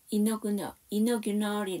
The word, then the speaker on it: inaugural: 여기에서 AL은 발음이 날까요? 안 날까요? 네. 이거는 발음이 납니다. 이게 무슨 말이냐면 우리 시작이 뭘로 시작했어요? 기억하세요? 그쵸. 내셔널. 이 첫 번째 AL이었어요. 걔는 발음이 낮죠. 그런데 맨 마지막이 뭐냐면 이너규널이 나왔거든요. 이너규널은 다시 또 A가 발음이 납니다.